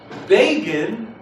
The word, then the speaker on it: Begin: little box that said begin rhymes with fagin so i did a